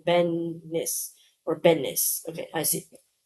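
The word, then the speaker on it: Benes: First syllable rhymes with pen or hen, as opposed to saying keen or seen, right? Edit, or the entire word rhymes with the common name Dennis, so it's more like Bennis, okay, or like say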